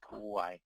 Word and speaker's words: Kauai: Kauai. Maui, Kauai. Okay, Kauai.